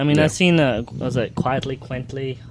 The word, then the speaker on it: Quitely: I mean, I've seen was it Quitely? How do you say it? Quietly.